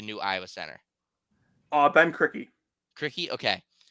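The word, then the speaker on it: Krikke: but yeah um um Jonathan how do you pronounce the last name of that the new Iowa Center uh Ben crickey okay like very good half court player he's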